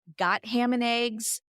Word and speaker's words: Gotham and Eggs: just closed this restaurant, even they didn't agree on how they pronounced the name of their restaurant, Got Ham and Eggs or Gotham and Eggs.